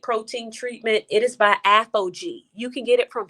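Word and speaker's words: Aphogee: it's a great protein treatment it is by apogee you can get it from sally's that is spelled a-p-h-o-g-e-e apogee protein you can get it from sally's or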